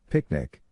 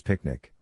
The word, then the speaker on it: PQNK: PQNK picnic the regenerative solution. PQNK stands for Peter Trini Zamashakiari meaning regenerative and sustainable pristine organic farming system pronounced as picnic.